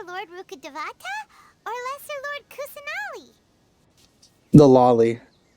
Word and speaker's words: Kusanali: Do you think she's supposed to be Greater Lord Rukkhadevata or Lesser Lord Kusanali? The lolly. She even rhymes with lolly.